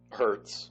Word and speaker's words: Hurts: what happens with jaylah hurst but i i god i keep saying his name wrong jalen hurts is it hurts or hurst hurts hurts okay because i feel i've